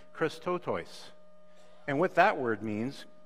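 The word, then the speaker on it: χρηστότης: used in Scripture and the Greek word is pronounced Christo toys and what that word means is compassion and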